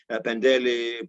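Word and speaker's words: Πεντέλη: Using modern Greek pronunciation, Mount Imitos, Pendeli, Parnitha, Egalio, each one with its own particular gift.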